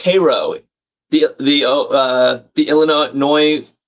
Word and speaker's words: Cairo: Gage confirming the Ohio River ends in Cairo, Illinois. That's crazy. Oh, it's pronounced Cairo. The the uh the Illinois city is called is pronounced Cairo.